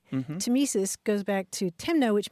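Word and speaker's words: tmesis: all those things up I did want to talk about the word tesis we should spell it because it's an oddly spelled word it's TM s i s and it goes back to a Greek word that means cutting tesis goes back to Timo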